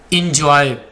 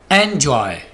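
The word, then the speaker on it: enjoy: इस वर्ड को आमतौर पर पता है कैसे बोला जाता है? इंजॉय। ये इंजॉय नहीं होगा, एंजॉय, एंजॉय, एंजॉय।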